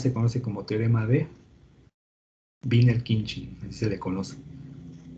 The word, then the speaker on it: Wiener-Khinchin: Entonces, este par de transformadas se conoce como el teorema de Wiener-Khinchin, así se pronuncia, es Wiener-Khinchin, y forma ese par de transformadas.